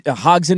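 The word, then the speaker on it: Hodgson: I think he Hogen is how you say his last name.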